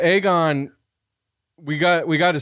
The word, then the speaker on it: Aegon: fact aegan like aegon I always want to say Egon when I say his name but aegon we got we got